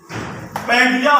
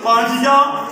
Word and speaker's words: Pangea: اس کے معنی ہیں۔ پینگیا، ہم تو اس کو پینگیا پڑھیں گے، اور گوگل نے جو اس کا تلفظ ادا کیا ہے وہ پینگی کیا ہے، پانجیا اور پنجیا۔ امید ہے یہ لفظ